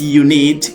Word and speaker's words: unit: When you pronounce unit, it's not like the U, but the yes, okay, the yes, the ye here, right?